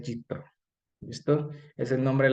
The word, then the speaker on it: Yitró: Este que lo traducen como Yetro, ¿vale? Pero realmente es Yitro.